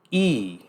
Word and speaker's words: y: and 30 by using e no pronounce that y e like the letter E in engl no uh means and